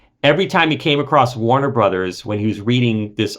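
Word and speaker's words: Warner Bros.: across a Warner Brothers which in print is always written as Warner b r oos period Warner Brothers we all saw it on Looney Tunes cartoons and old movies Casa Blanca you name it it's Warner Brothers every time he came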